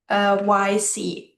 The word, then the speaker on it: Cyc: Sync. Yes. OpenSync. I'm not really sure how to pronounce it. CYC.